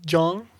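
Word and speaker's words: Kyeong: And so, but to pronounce it, I wrote it this way. It's Jung. It's Jong.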